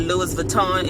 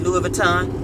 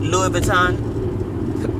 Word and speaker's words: Louis Vuitton: word in a minute, but make sure you're pronouncing it correctly. It's not Louis Vuitton, it's Louis Vuitton. Louis Vuitton.